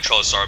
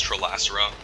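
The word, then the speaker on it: Trelasarra: trollas around turn two i keep calling trellis star but it's trilacera i need to pronounce it correctly yeah we can curve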